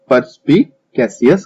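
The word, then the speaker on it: perspicacious: कीन माइंडेड को परस्पिकेशियस कहा जाता है। ठीक है, तो यहाँ पे आप प्रोनाउंसिएशन पे ध्यान दीजिएगा, ये बहुत ही लंबा वर्ड है, परस्पिकेशियस प्रोनाउंसिएशन इसका इसे है।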